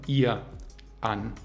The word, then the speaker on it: ihrer: Ihrer mit a-schwa am Ende. Ihra.